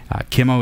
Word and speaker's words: Qimo: TV just emphasis again Kemo is spelled q m o and you go to